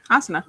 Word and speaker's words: Asuna: Asuna.